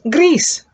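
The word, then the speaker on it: gris: the color gray and it's pronounced grease like hair grease grease again it's pronounced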